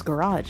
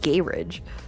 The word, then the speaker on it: garage: I thought it was garage, not gay ridge.